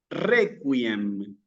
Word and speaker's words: Requiem: los va a ayudar seguramente para una correcta pronunciación de la Q. ¿Sí? ¿Qué dice aquí? ¿Qué tenemos aquí? Requiem.